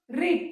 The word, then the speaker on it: read: सो this you need to keep in mind that read and read, the spelling is same but the pronunciation changes.